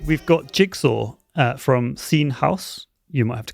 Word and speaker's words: Seen Haus: all right thank you for having me yes seen house is the correct pronunciation so you got it right there fantastic